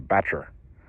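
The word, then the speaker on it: batture: That area just outside the levey on the riverside is called the Batcher. I don't know how they spelled that, but that's how they say it.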